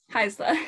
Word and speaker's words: Haisla: Haisla. Yeah. Yeah, this has actually been a really exciting program to be a part of. There are about 11 of us from the Haisla Nation taking this program.